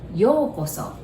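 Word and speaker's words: ようこそ: So that word is yokoso. You notice there's OU there. So you pronounce it like O.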